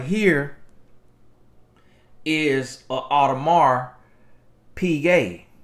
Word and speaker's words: Audemars Piguet: right here is a audemars piguet that's how you pronounce it now you know black folk we pronounce pigwet out of mark pig hey that's an art